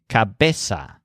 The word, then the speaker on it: cabeza: word for head is cabeza with a stress on base now the mirror above